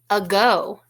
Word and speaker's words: ago: Do you recognize the beginning sound in ago? It's the same beginning sound that we had in the word again. It's the schwa sound. The A is making the sound. Do you hear it?